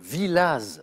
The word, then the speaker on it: Villaz: disais un donc de Villaz avec un Z à la fin qui se prononce alors j'ai changé avec